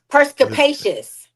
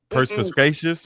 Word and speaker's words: perspicacious: Perspicacious. Perspicacious. Perspicacious. Perspicacious. No, perspicacious. Perspicacious. It means having a ready insight into an understanding of things. Perspicacious. Perspicacious. Perspicacious. Perspicacious. Like perspire.